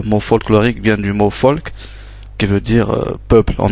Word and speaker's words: Volk: par exemple V qui se prononce F donc fa euh donc le par exemple le comme on a dit le mot folk ça ça s'écrit avec un V mais ça se prononce folk peuple comme Volkswagen.